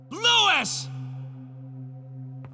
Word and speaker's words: Luis: you can at least pronounce his name right instead of americanizing it lewis lewis the freeing ashley we